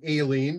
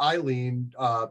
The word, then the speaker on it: Aileen: I like to pronounce her name Aileen because that's the way it needs to be pronounced. I probably called her Eileen too many times.